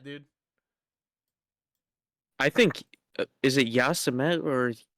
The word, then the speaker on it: Yosemite: I think, is it Yasemet or how do you pronounce that word? Yazamite I always, or yeah. Yosemite.